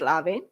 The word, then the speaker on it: Levin: Levin. Oh, it's Levin, but Lavin. The pronunciation is Lavin.